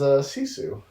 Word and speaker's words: Sisu: So that was Hardcore Henry, and the next thing I watched was Sisu.